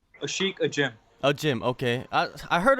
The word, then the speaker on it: Ajim: Ashiek Ajim.